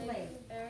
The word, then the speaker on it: Leif: He's pronounced Leif.